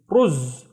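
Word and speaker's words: رز: I see 1 dhamma, so it's only 1 syllable, and this is ru, and then z, ruz, ruz, and ruz means rice.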